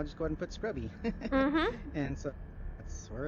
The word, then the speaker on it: XSCRUBBY: It's XSCRUBBY. It looks like X Scrubby, but it's pronounced Scrubby.